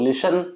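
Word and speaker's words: listen: ब नहीं बोला जाता और लिसन लिसन में टी नहीं बोला जाता लिसन बोला जाता है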